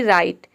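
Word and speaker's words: right: pronunciation होता है र जैसे कि राइट आर का हो जाएगा र यहां पे भी देखिए जीएसटी एक साथ आया है तो आई का आई हो जाएगा और जी एच साइलेंट है टी का हो जाएगा ट पूरा हो जाएगा राइट राइट का मतलब होता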